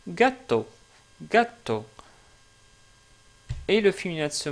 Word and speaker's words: gatto: Par exemple, pour ce mot-là, justement, qitton qui veut dire un chat, en italien, on le prononce gatto.